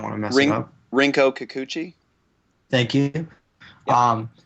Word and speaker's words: Rinko Kikuchi: With can someone pronounce her name, because I don't want to mess it up? Rinko Kikuchi.